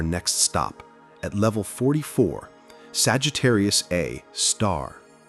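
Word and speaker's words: Sagittarius A*: And that monster is our next stop at level 44, Sagittarius A Star. Pronounced Sagittarius A star and often abbreviated SG Asterisk.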